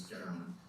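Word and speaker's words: Gawain: letters which referenced sir Gan it looks like G but it's uh the story uh is taken from the Midland dialect of anglosaxon and so the pron pronunciation is gow so sir gow and the Green Knight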